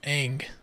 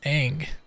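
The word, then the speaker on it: Aang: yes to which one it's Ang short a it's Ang ANG right Ang double Ang oh double Ang Ang like Angelina he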